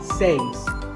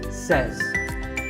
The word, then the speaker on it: says: this world it's pronunciation word number two is cess this word is commonly mispronounced by people learning English as saves but remember I say you say but he or she says number three is etc